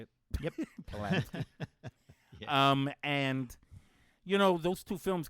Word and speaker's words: Polanski: Polanski.